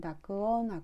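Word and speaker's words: 濁音: 한국어로는 " 탁음 " 이라 고 발음 합니다 . 일본어로 는 " 다쿠온 " 이라 고 하고 , 반드시 그 작은 점 두 개 가 있어야 합니다 .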